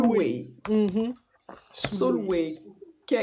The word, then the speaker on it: Sulwe: Alors, le prochain livre, c'est Soul, je sais pas comment on prononce ça, Sulwe. Soulway.